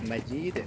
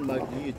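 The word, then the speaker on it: مجيد: Ya, jimnya tipis majid, bukan majid tapi majid.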